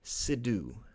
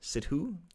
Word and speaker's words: Sidhu: bit here the Anaheim mayor I'm going to mispronounce this name and I apologized Harry sidhu sidhu s-i-d-h-u sidhu I apologize if I've really butchered